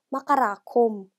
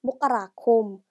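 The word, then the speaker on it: มกราคม: 자, 첫 번째 마카라콤. 그리고 두 번째는 모카라콤 이렇게 마카라콤 또는 모카라콤 두 개 다 표현이 가능하기 때문에 그렇게 두 개로 같이 공부를 해주시고요.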